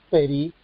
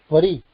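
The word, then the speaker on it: פְּרִי: es vocalizado Por eso está bien leído peri peri con ese yev vocalizado y no pri Aunque hay mucha tendencia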